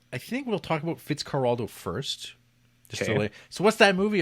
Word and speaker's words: Fitzcarraldo: Fitzcarraldo is how the people in the Amazon pronounce it, Spanish. That's how it would be kind of spoken, I guess.